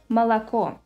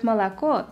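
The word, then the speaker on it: молоко: in an unstressed syllable let's take the word milk in Russian it will be malaco as you can hear in the word malaco the first two letters are pronounced like ah whereas the final o should be pronounced like o without any reduction because it is stressed Russian also has several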